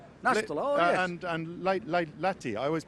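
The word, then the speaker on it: Lahti: Nestto and Lati. I always mispronounce it. Lati.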